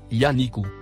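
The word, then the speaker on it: ينعق: mot en surbrillance jaune se prononce yanikou définition du mot y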